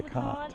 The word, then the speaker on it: LeConte: What is the proper pronunciation of this spot here? Is it LeConte or LeConte? It's the Conte.